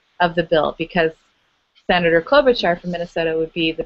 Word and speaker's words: Klobuchar: Klobuchar.